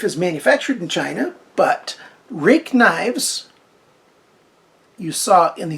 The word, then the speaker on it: Ruike: manufactured in China but rake knives you saw in the thumbnail it's spelled RI ke but pronounced rake rhymes with Jake must be good this